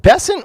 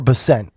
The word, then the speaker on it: Bessent: Is it Bessant or Bessent? Bessent. Bessent. I've been saying it wrong for a year.